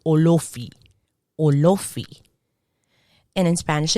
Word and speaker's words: Olofi: English, now we have Olofi. I find that when I hear the Yoruba say, they really emphasize on those O's like Olofi.